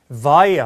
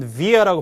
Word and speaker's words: via: via 혹은 via라고 발음하기도 하고 뭘 통하여.